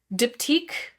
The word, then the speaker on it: Diptyque: Diptyque, I think technically in French it's like Diptyque.